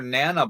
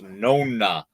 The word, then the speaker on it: Nona: So now it's Nona Boss. I always thought it was Nana, like none of your business.